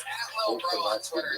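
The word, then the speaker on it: Lil Brough: He spells bro with three silent letters at the end.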